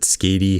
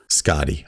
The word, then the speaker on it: Scotty: Is it Scotty? Is it Skady? How do you pronounce it? Yeah, it's the first one. Scotty.